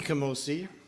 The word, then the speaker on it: Kamosi: Okay, so LP Kamosi, who will be singing for us, his name rhymes with cozy, and that was there seems to be some kind of feedback, which, oh yeah, okay.